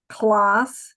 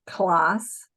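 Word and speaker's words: класс: um American C the alphabet Alpha C is pronounced like an S so class and and of course then the K sounds like are RC so and then that little funky thing is an L so class so that's how and my transliteration I'll probably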